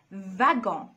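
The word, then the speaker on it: wagon: أول نطق بيتنطق V V يعني وفي حالة إن هو جاب كلمات مش أصلها فرنسي وبيبقى أصلها ألماني زي كلمة فاجون.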